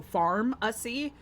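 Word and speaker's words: Farmacy: It's from this brand called Pharmacy, but spelled with like an F, so Pharmacy.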